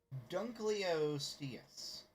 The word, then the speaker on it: Dunkleosteus: Alright, so I got the Dunkleosteus.